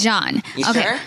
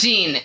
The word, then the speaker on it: Jean: it go ahead john it's john yes it's john nobody says gene nobody's a gene j it's okay it's j-e-a-n that's john that's john okay billie